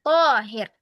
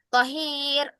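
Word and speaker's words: طاهر: Ya, ya, akhwati, yang panjang di sini adalah huruf to-nya. Jadi, cara membacanya adalah dengan memanjangkan to, bukan di ri atau di hi-nya. Bukan torik atau tohir. Lah ya, akhwati. Yang benarnya adalah torik dan tohir.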